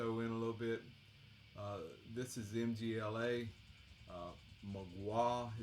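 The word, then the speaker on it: Mgła: Magua is the way it's pronounced. That means the fog in Polish, I guess.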